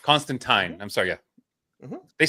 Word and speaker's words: Constantine: I thought it was Constantine. That's what Frier said earlier. It is rhymes with swine. We got it from the writer himself, Constantine.